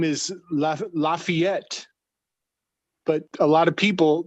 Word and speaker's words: Lafayette: uh his name is lafayette but a lot of people they the english speakers they pronounce his name la fete and what is the